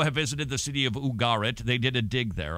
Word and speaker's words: Ugarit: This was from the ancient Canaanite city of Ugarit. Unless you're from the south, then it's probably Ugarit, because they tend to put the accent on the first syllable.